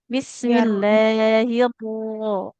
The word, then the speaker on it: بسم الله الرحمن الرحيم: Bismillahirrahmanirrahim. Nah, Ya. getarnya sedikit kan, tebalkan karena berharokat fathah dan tekan karena bertasydid. Hirro.